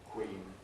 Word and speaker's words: queen: Queen twin. Of course, this is like other W sounds similar to a kind of oo vowel but shorter.